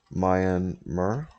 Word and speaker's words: Myanmar: just have direct um mayan mer right that's how you pronounce it mar number mar myanmar